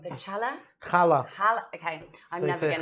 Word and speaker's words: challah: going to probably say this completely wrong, the challah? Challah. Okay, I'm So never going to pronounce that challah.